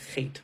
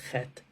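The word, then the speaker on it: חטא: That's why in the word chet, which means sin, we don't pronounce, it's spelled chet, tes, aleph. We only pronounce the first two letters.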